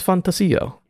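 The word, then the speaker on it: ReFantazio: things to say did you like how I pronounce fantasio yeah I did I'd love that you pronounce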